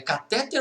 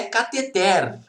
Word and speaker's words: cateter: Se fosse catéter, como boa parte das pessoas diz, deveria ter acento no T. Por quê? Porque é uma paroxítona não terminada em A, E, O, E. Então deveria ser catéter com acento. Tem acento? Não. Então a sílaba tônica é a última. Ela é uma oxítona. A pronúncia é cateter.